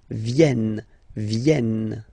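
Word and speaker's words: viennent: e e okay ven so remember this classic ending n for the third person of the plural is here but phonetically doesn't exist so you don't pronounce it venen okay elen all right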